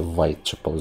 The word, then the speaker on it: Whitechapel: Правильно вимовляти Whitechapel за новими правилами, все-таки не через У, а через В.